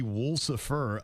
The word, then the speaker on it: Woolsifer: She phonetically put it. It would be Woolsifer.